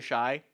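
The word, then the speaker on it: Shuy: I say Shui because it is spelled S-H-U-Y. And when I asked him Shui. how he wants to be referred to, his response was, Shui or Shy. Either one works.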